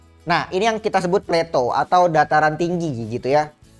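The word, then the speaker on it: plateau: Jadi, ini dibacanya pleto ya, Sobat belajar.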